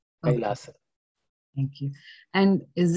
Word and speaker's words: Kailasa: For that sake, yes, your question is a valid one, but this is the right Sanskrit pronunciation, Kailasa.